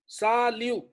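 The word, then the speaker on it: salut: य सवाग सालियो सालि साल सर वा एंड प आ ना किसम साल नहीं नहीं व नहीं आएगा सालि अब यह अब इसको इ सालि टी साइलेंट है टी नहीं बोला जाए ठीक है जी अभी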